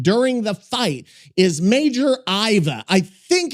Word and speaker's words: Aiva: One would pronounce that as Iva. It's quite straightforward really. And if one can manage a proper cup of tea, one can certainly manage a twocllable name.